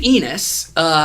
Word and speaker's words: Ennis: book was written by a guy named Garth Ennis. It's a really gross sounding name. Garth Ennis wrote probably my favorite comic.